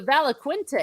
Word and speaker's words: Valaquenta: Valaquenta? Yes. So, and what the Valaquenta is, Quenta, is the mythology of what we've seen from what the elves knew.